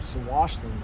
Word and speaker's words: Tsawwassen: Here's the terminal there, quite small compared to Tsawwassen, or Tsawwassen, I guess it's actually pronounced.